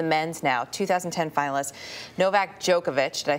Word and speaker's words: Djokovic: 2010 finalist Novak Djokovic.